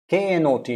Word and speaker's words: knot: you know it not k n o t not n o t not k n o t not both are pronounced same k n o t